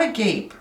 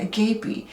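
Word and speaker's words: agape: how you say it it's not a gape it's the greek word and we're going to get into that a gapi but with this i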